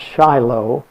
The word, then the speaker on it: Shiloh: was called Yigal Shiloh, spelled just like we pronounce Shiloh.